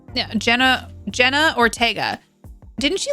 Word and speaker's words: Jenna Ortega: Yeah, Jenna Ortega.